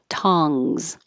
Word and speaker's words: tongs: could be similar to the word tongs which is spelled with an O but sounds like an ah so definitely open so much more ta tongs 13 tongues your jaw